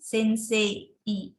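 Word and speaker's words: せんせい: Contohnya sensei. Jadi penulisan sensei itu kan sensei. Tapi ketika pengucapannya mungkin agak gimana ya, tidak terlalu jelas kedengaran i-nya karena sedikit disenyapkan seperti itu.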